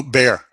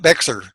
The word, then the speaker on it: Bexar: The first question we have to ask them is, when we show them the name, they have to pronounce it. Oh, Bear. Yeah, right? Yeah, and it's not Bexar.